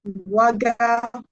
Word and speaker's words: Waga: I think it's Waga, right? Toast Master theory. Is Waga correct? Yeah, it's correct. It's correct. Waga.